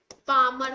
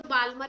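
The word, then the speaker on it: Balmer: इसको हम बोलते हैं पामर सीरीज। एल साइलेंट होता है, कई लोग बाल्मर भी बोलते हैं, जो मन करे वो बोलो, वैसे एल साइलेंट, पामर सीरीज, हाँ पामर सीरीज बोलते हैं, ठीक है।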